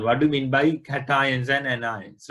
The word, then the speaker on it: cation: It is not cation, it is cation.